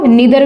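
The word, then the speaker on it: neither: जैसे हम बात करें आइदर, ठीक है, आइदर या इधर भी बोलते हैं इसको, नीदर भी बोलते हैं, नाइदर भी बोल सकते हैं, जैसे आपको अच्छा लगे।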